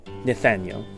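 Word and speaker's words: Nithaneil: So, it's spelled N I T H A N E I L. N I T H. Yes. Nathaniel.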